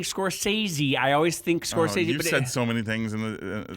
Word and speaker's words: Scorsese: I was gonna say because it rhymes with Scorsese. Franzese. Yeah, but Scorsese is actually Scorsese.